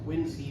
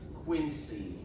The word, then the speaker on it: Quincy: They are entered in the church of the presidents in Quinsey Massachusetts which by the way is pronounced like a z sound or zoo or a zipper not quincy.